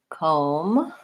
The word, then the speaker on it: comb: the word for example the words comb and dumb just have the M sound at the end so the B is silent there's no be there